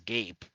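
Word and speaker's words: Gaap: Z also known as I'm pretty sure you just pronounce that as gap which is unnerving um it's Gap it's g a a p Gap I don't think so I think when there's two A's I think it's a hard a you are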